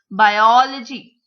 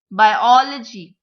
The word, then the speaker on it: biology: Biology. Biology. It is not biology. It is not biology. It is biology.